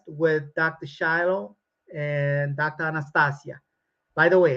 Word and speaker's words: Anastasia: Anastasia by the way her name pronounced Anastasia is Russian it's a beautiful language pronounce it correctly don't what's this Anastasia what what it sounds almost like she's going on the anesthesia but anyway so so so so so please kindly pronounce it right so I think she